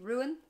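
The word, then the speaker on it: Rún: Irish it means secret it's pronounced the same way ruin but it means secrecy this one I don't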